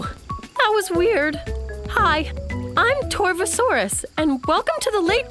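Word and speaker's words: Torvosaurus: was weird hi I'm torva Soros and welcome to the Late Jurassic period 144 million years ago you say my name tour foe so arrest it means savage lizard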